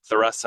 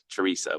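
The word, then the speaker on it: Theresa: Um, so if you come visit our uh retail store in Teresa, so there's a couple different pronunciations of our village. It's Theoressa or Teresa, whatever you prefer, but the correct pronunciation is probably Teresa.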